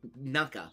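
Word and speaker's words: 中: I know this is middle and it's normally pronounced naka.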